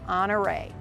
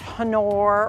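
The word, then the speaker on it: Honore: all over the place this is hore not hanor or hanor hore and it was named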